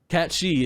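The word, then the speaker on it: Cait Sith: in wait people can announce it cat catchy cat she is the correct way to pronounce it it's c-a-i-t-s-i-t-h i believe and i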